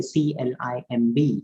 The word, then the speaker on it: climb: silent in english for example when i say c-l-i-m-b it is not climber last bur is silent it is be climb silent tsunami t